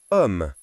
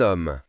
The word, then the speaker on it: homme: C'est la lettre H. Elle ne fait aucun son. H comme dans le mot homme. Lisons ensemble un homme.